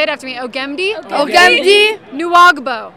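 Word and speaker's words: Nwagbo: How do you pronounce his name? Okay, Ogemdi. Say it after me. Ogemdi. Ogemdi. Nuagbo. Nuagbo.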